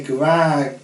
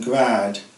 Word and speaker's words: grandes: as several grandes maisons, and they are always pronounced grand in the Norman French style, rather than grade as in standard French.